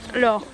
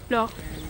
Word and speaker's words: Laure: Yeah, like Laura, but without the A. Yeah. It's an E instead, but you don't pronounce the E. Do you pronounce it in France? No, in France it's just Laure. No. Laure. With the R at the end, but So what's this barrel?